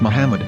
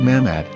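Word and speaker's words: מחמד: yehuda's hebrew english dictionary it is correctly pronounced as muhammad not mahmad so how we're going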